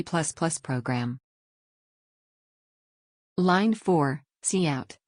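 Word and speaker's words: cout: point of any c plus program line four C out pronounce c out is an object used together with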